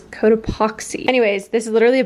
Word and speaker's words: Cotopaxi: I've always pronounced it Cotopaxi, and then my friend worked with them and she was corrected that it is Cotopaxi.